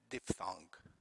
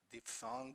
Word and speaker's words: diphthong: vowels, we call it diphthong, as you see it in the middle of page 45. Diphthong or diphthong, both pronunciations are correct.